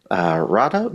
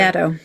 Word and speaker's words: Beato: It's called Super Agency, and it's written by Reid Hoffman, who founded LinkedIn, and Greg Rado, not Rado, No, sorry. Beato.